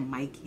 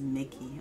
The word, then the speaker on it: Micky: funny oh my god mickey that's his name i said mikey name is mickey oh my lord i'm